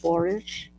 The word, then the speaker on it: borage: you say it borage borage borage like porridge but with a be it is okay it's like porridge okay poridge thought she's